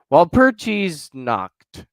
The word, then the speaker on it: Walpurgisnacht: James said I think he's saying I pronounced it right. He said, "Yep, Walpurgis knocked.